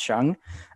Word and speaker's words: Sheng: introducing yourself okay um my name is shang but probably should be pronounced chung um i am a